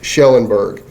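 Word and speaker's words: Kjellenberg: is known as Suzanne shellenberg it's spelled KJ but it is pronounced sh shellenberg her family obviously wants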